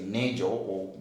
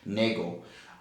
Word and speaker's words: Nagel: Uh, in other words, there is a paper that I think was published by Nagel, or others can say Nagel, but I think the right pronunciation of that particular name is Nagel.